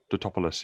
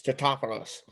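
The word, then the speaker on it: Tatopoulos: Totopoulos, yeah. Yeah, because people keep getting his name wrong. And he's like, it's Totopoulos.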